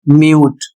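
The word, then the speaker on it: mute: जैसे यहां पर सी का उच्चारण का हो रहा है। इसके बाद अगला शब्द है म्यूट।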